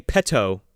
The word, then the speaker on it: Petto: you're you're not saying it with two t's exactly you're saying with two d's you're not saying petto you're saying pedo oh sure yeah yeah